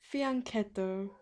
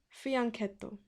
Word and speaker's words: fianchetto: It's pronounced fianchetto, because I had this disagreement with an actual Italian who pronounced it fianchetto, and then I told them no, it's fianchetto, because that's how I pronounced it my entire life.